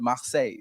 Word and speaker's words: Marseille: The Pasco, make sure you go to, it's a French word, Marseille. So you gotta say it like that. They won't let you in if you don't say it like that.